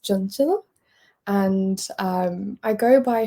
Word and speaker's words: Chanchal: My name is pronounced Junilla and um I go by for convenience